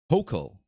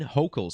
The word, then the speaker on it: Hochul: Kathy Hochul, I believe is how it's pronounced.